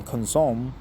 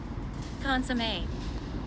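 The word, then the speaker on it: consommé: Cosomme, what is the pronunciation? Cosomme, many French words. No Korean words? Consomme.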